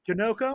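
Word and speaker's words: Janocko: Janick Janoko.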